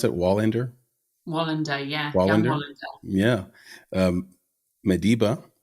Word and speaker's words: Wallander: and Bone peripheral young Wallander is that you pronounce it Wallander Wallander yeah wer yeah um MBA with Lawrence Fishburn